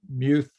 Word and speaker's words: Muth: thank you georgia okay uh um muth i'm sorry if i'm uh mispronouncing your your name um muth sorry if i get that wrong hello yes hello my name is mouth i'm from richmond virginia